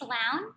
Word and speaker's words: Laun: your last name it's loud it's spelled l-a-u-n and it's pronounced like clowns okay okay i'm just